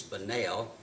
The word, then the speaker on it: Bunnell: In Hart County, it's Bunnell instead of the way it's spelled.